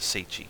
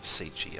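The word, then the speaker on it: Tsaesci: the Siestei of Akavir, or the Seichi, sorry, it's pronounced Sichi. I always forget that the hist were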